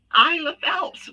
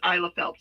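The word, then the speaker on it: Isela Phelps: in there then the next one is my isle of phelps which she has a lot of cool videos isla phelps it's spelled i-s-e-l-a-p-h-e-l-p-s she's on she does a lot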